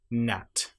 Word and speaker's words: gnat: So, if you have the letters G and N together, you normally will not pronounce the G. And one example might be gnat or a line.